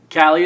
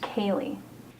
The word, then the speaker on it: Kaylee: Callie, is it? No, it's pronounced Kaylee.